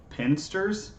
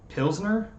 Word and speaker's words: pilsner: pinsters and stuff like how do you say it pimsters is that is that what it is pinsters it's a type of beer pilsner elsener pilsner i was like what's